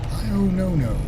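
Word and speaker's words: Pio Nono: This road right here is called Pio-No-No. That is how it's pronounced here in Macon, Georgia.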